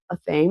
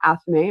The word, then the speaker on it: athame: And then below that, you have an athame or athame. It really just depends on how you've learned how to pronounce that and what side of the world you're from. To the right of that